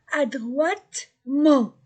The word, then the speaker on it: adroitement: Oiwa, adroitement, E-N-T, dans un adverbe ou un nom ou une question, c'est en. Mais E-N-T du verbe, de la troisième personne du pluriel, ne se prononce pas. Ici, c'est un adverbe.